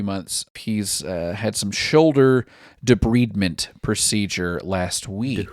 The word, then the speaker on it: debridement: He's had some shoulder debridement procedure last week. Debridement? Yeah, debridement. I had to look up how to pronounce that.